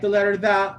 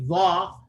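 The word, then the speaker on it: ظ: When pronouncing a Dha, the back of the tongue rises right here. And I mentioned this yesterday too, that this is the case with every single heavy letter. Any letter that's heavy, it requires the back of the tongue to rise.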